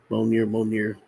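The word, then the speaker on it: Mjölnir: I guess that's how you pronounce it. Mjolnir.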